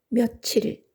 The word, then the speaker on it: 며칠: 며칠이 맞는다 이윤즉슨 이렇다 몇 일은 불행하게도 며칠로 소리 나지 않는다 구조적으로 몇 일로 발음된다 일이 들어있는이 모음의 존재감 때문이다 깻잎 뒷일 베갯잇처럼 니은 소리가 꼭 덧나게 되어 있는 것이다 며칠이라고 발음하려면 며칠이라고 써야